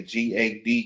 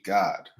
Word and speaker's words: Gad: ancient Hebrew so um Gad is how you would say g a d Gad in English but in Hebrew it would be God all right go ahead